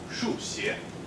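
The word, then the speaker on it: 数学: So this word, for example, 数学 means the study of numbers, so mathematics. But if you happen to sort of slip on some tones and some pronunciations, you might get 输血, which means blood transfusion.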